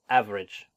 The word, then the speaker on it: average: Okay, average, so it's average. Now I know that there's the magic E there that makes it sound like, oh, like I should have ave, like that.